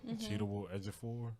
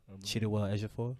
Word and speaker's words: Chiwetel Ejiofor: How do you pronounce his This is name? gonna be a always crazy Cheetah movie. Cheetah Ejiofor. Chiwetel Ejiofor.